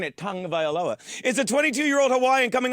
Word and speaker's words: Tagovailoa: Because while Tua Tagovailoa, that's how you say his name, and I like saying it, Tagovailoa, is a 22-year-old Hawaiian coming off an injury